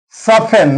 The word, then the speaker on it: soften: Soften, not soften. T is silent here.